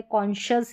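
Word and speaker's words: conscious: SC का उच्चारण कभी कभी श भी होता है, जैसे कि यहाँ पर इन स्पेलिंग्स में मिनिमम स्पेलिंग्स है। देखिए यहाँ पर है कॉन्शियस, उच्चारण दे रखा है, डिफिकल्ट है, इसलिए यहाँ पर जो है SC को श पढ़ रहे।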